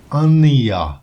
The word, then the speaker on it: Anna: She said that her name is pronounced Ania.